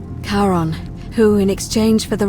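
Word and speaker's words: Charon: name you heard wasn't karen it was c-h-a-r-o-n as in caron the ferryman of the dead karon who in exchange for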